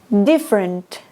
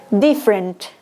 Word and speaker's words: different: tampoco se lee cambra different esta e no se le different interested esta primera no